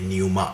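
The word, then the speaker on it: pneuma: हैं मुझे नहीं जी न्यूमा कोई शब्द नहीं होता है न्यूमा होता है पी एन ई यू एम ए न्यूमा न्यूमा means spirit वहीं से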